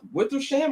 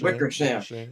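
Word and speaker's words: Wickersham: a book that's coming out from uh Seth Wither Sham. I think that's how you pronounce my man's name. Wickers. Wickersam.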